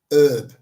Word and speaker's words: herb: They call it a herb, no H.